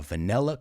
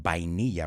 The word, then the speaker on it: vanilla: And this is a vanilla cone, un cono, o cucurucho, I think you say as well. Vamos a ver la pronunciación. Vanilla, not vainilla, right? The V is vanilla.